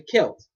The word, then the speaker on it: Celts: They're called the Celts. Alright? I don't know why it sounds like a K when it's C, but it's Celts.